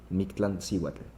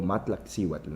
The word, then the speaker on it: Mictlancíhuatl: Mictlancíhuatl, ¿no? O Matlaxíhuatl, ¿no? También depende de la forma de Sí, sí. pronunciarlo, ¿no?